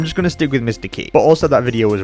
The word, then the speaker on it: Qi: I've heard Mr. QI pronounced Mr. Key, Mr. Chi, but never Mr. Quee. So now I've got a third pronunciation to confuse me. I'm just going to stick with Mr. Key for consistency's sake.